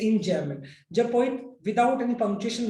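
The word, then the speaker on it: enjambment: कर जाता है तो हम उसको बोलते हैं इंजैममेंट। इसका स्पेलिंग लिख देता हूं मैं, EMJAMBMENT, इंजैममेंट बोलते हैं इसको।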